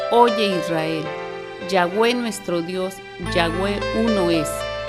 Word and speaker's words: Yahweh: En algunos lugares dicen Yahvé es Dios. Así que por la pronunciación, ya hemos dicho, ya hay mucha controversia y todo eso. Nosotros estamos utilizando con fines pedagógicos y de acuerdo a cómo lo pronuncian muchos de los judíos, Yahweh Elohim.